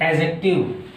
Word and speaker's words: adjective: तो एडजेक्टिव, अब ध्यान ये देना है कि जो ADJECTIVE है उसमें डी साइलेंट है, डी का उच्चारण नहीं करना है।